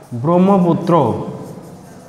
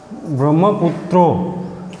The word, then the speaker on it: ব্রহ্মপুত্র: আবার ব্রহ্মপুত্র, ব্রহ্মপুত্র, এখানে তয় র ফালা, এখানেও শেষে কিন্তু আসছে অ।